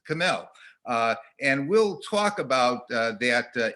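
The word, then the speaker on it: C'mell: Some people told me they pronounced it Simel, and I've always pronounced it Camel.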